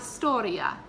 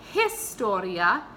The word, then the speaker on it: historia: repeat a lot is storia so when you just said that if you pronounced if you said la his storia that's actually incorrect it's not Astoria you don't pronounce the H in Spanish it's silence a lot